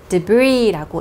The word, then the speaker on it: debris: 여기 s는 여러분 발음하잖아요. 그래서 debris 이렇게 읽으시면 안 되고 debris라고 있는데요.